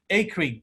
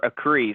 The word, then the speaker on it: Acree: get my name correct they say acry or a cree so acree i'm impressed man it